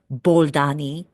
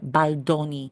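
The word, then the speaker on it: Baldoni: between these two actors it is not Justin balani read his freaking last name it is Justin baloni it is pronounced as it is written baloni give me a break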